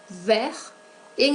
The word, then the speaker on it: verte: En el masculino no pronunciamos la T, vert. En el femenino sí pronunciamos esa T por la presencia de la E, verte.